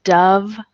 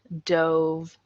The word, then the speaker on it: dove: a good one the Dove douve out of sight those two words dove and douve they're spelled exactly the same way but wine is a